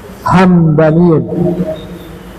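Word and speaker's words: همدانيون: Dibacanya mimnya sukun, Hamdaniyun.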